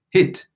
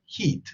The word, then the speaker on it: hit: Remember that we say hit, hit instead of heat.